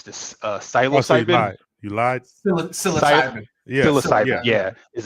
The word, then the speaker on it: psilocybin: How do you pronounce this? Psilocybin.